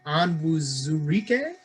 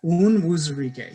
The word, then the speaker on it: Onwuzurike: Onwuzurike? Oh, Levi Onwuzurike, yeah. Onwuzurike, yeah.